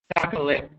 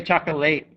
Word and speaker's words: chocolate: four late late and chocolate chocolate i don't say chocolate say chocolate it's got that e sound chord and record record